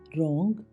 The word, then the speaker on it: wrong: WRONG रोंग, गलत।